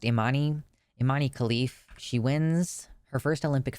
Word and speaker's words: Imane Khelif: I think her name is pronounced Imane Khelif.